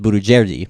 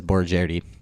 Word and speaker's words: Borojerdi: pronounce your last name but my parents pronounce it Buddha JD but everybody that I know cause it says bore Jarrett II got it okay it